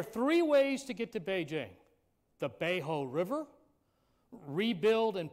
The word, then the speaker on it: Beijing: up to tianjin obviously the spelling of chinese words p king p e k ing is said and normally pronounced beijing b-e-i-j-i-n-g and if you're